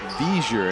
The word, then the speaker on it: Viger: There's a Pelham selectman named Viger, and he spells it V-I-G-E-R. Soft G.